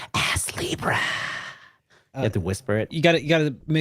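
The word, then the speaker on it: Astlibra: that's the correct pronunciation ass Libra you have to whisper it you gotta you gotta make sure you pronounce the T though because it's like it's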